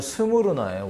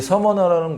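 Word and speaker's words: Σμύρνα: 발음이 조금 다른데 이 원어를 보면요 스무르나예요. 원래 발음 자체가. 그래서 스미르나라고 하는 발음하는 게 좀 더 이제 약간 원어에 가깝게 이제 번역을 해놓은 곳인데 이 서머나라는 곳 또 사실 부유한 곳이었어요.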